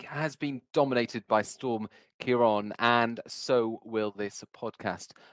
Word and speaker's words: Ciarán: Now, for the record, I do know how to pronounce Ciarán because my brother is called Ciarán, so I've been talking about Ciarán my entire life.